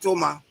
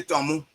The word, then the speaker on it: Toma: So my father name but they name it Toma but the crown people cannot pronounce Toma. So they say they say tommo.